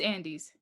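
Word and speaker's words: Andes: oh andy's the cop what's how do you pronounce his last name though andy's it's andy's officer andy's my favorite quote of the movie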